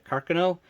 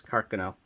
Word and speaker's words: Carcano: millimeter or the 6'5 carcino and if I interchange carcino and Carcano excuse me the proper pronunciation is carcono so just so you